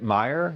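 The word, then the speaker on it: Meijer: When you look at the name, it's easy to pronounce. Am I even saying it right? Meer.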